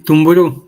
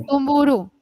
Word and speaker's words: Tumburú: Eh, sí, Tumburú con acento en la última. Tumburú.